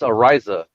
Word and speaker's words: Ariza: It's Ariza. Because Ariza, if he's you don't have to roll your R, but if he's not a Dolphin, I really don't care.